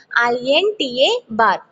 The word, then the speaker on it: INTA bar: We pronounce this pin like only INTA bar, not a INTA. Not INTA. Its must and should be pronounced INTA bar.